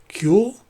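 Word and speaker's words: Kuiil: really hot alien called cool kyoool it's hard to pronounce that one's k UI ll but he had a really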